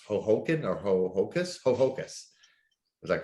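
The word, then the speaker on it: Ho-Ho-Kus: I'm not going to try to remember or pronounce Hohoken or Hohokus. Hohokus.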